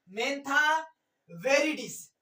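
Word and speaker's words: Mentha viridis: मेंथा वेरीडिश। मैंथा वेरीडिश। आपको ऐसे pronunciation भी लिख सकते हैं।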